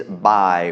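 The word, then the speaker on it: บ่าย: this is bai, and it's a low tone because it's a mid-class consonant with the tone mark mai ek.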